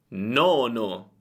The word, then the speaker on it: nono: Il mio consiglio per pronunciare bene le doppie è quello di accorciare la vocale precedente alla doppia. Per esempio, nonno, nonno, nono, nono. Senti la differenza? Nonno, molto breve, nono, più lunga.